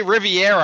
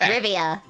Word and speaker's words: Rivia: I keep wanting to say Riviera, and I know that's not fucking correct. Rivia.